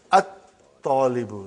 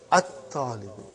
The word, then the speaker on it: at-talibu: And then, at-talibu. Not al-talibu, but at-talibu. At-talibu.